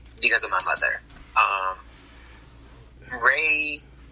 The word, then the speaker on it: rey: Ray, it's spelled R-E-Y, and Ray in Spanish actually means king.